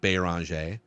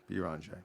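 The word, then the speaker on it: Beringer: In the pronunciation guide, it is Yawan B-E-E, Bonj. Bonj. And when they had him say his name on like a social media video, I believe he said Bonj.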